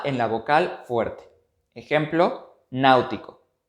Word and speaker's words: náutico: Ejemplo, náutico. Al ser una palabra esdrújula, deberá tildarse en la antepenúltima sílaba y como esta antepenúltima sílaba tiene dos vocales, entonces el acento ortográfico irá sobre la vocal fuerte.